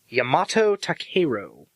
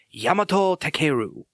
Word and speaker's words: Yamato Takeru: the first samurai was yamato takeru I just sound like I'm making fun of it I think the stress would be on the second part so it'd be yamato